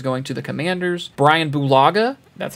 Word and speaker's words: Bulaga: and anthony hitchens going to the commanders brian bulaga that's how you say his name went to